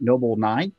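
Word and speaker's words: Nobl9: I work for Noble Nine, which is pronounced Noble Nine. We currently do not have any money for additional vowels, but hopefully with our Series C, we can accomplish that.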